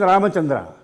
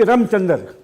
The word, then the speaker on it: Ramachandra: that and G said g could never pronounce my name my name my full name is ramachandra but he only called me ramchandra as a good so he said not out ramchander very bad sportsmanship now